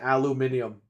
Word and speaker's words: aluminium: the British and say aluminum they can't say aluminum Alum Alum they say they say aluminium they just say it different that's all they also